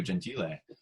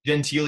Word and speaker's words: Gentile: Yeah, you actually said the correct Italian pronunciation too, Gentile. It's Gentile here in America, but I think it's truly Gentile.